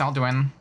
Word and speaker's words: Alduin: No, no, his name is pronounced Alduin.